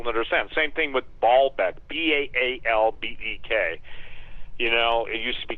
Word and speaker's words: Baalbek: Same thing with Baalbek, B-A-A-L-B-E-K.